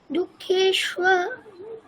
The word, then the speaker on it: দুঃখেষ্ব: দুঃখেষ্ব আচ্ছা তারপরে নুদ্বিগ্ন, দুঃখে স্ব নুদ্বিগ্ন, বলো।